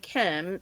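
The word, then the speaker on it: Kym: So it's founded by this person named Kim, spelled with a Y, K-Y-M.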